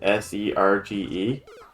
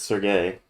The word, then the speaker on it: Serge: main character's name is s-e-r-g-e and i used to call him serge but i'm pretty sure it's sergei that's oh i think i always call him sergey as well yeah sorry